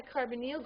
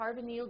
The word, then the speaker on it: carbonyl: Now, what I mean by a carbonyl group is a carbon double bonded to an oxygen. This is a carbonyl group.